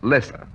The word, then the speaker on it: Loesser: song one Frank Loesser the name is spelled l OE SS ER but is pronounced lesser and the same Frank